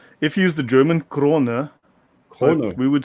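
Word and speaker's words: Crone: I know in French we say Kron. Is it Kron? We would say Kron as well. In English, it would be Kron. Or if you use the German, Krone.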